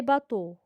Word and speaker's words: bateaux: L'autre exemple, les bateaux. X, c'est une lettre muette. Je ne la prononce pas.